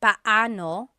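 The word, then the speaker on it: paano: It's technically pano pano when there are two vocab or when there are two vowels together you say them separately.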